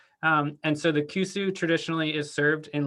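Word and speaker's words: 古酒: So the aged Awamori is called kusu. It's confusing because it's kind of spelled like koshu, but in Awamori dialect, it's pronounced kusu. And so the kusu traditionally is served in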